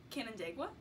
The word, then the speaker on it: Canandaigua: Canandaigua?